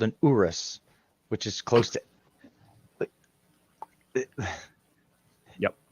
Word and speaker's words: Urus: It's Urus. Yeah. That's spelled URUS.